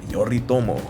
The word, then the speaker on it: Yoritomo: yorito yoritomo that's how you say his name yoritomo you finished in time there you go there